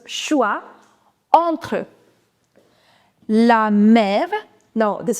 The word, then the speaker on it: choix: OI is oua, which I told you over here. It becomes choix, entre.